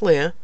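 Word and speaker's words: Lia: I actually Googled it to look at the correct pronunciation, and it's French. It's actually pronounced Leia.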